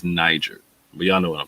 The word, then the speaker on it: niger: down the fact that the Latin pronunciation is Niger.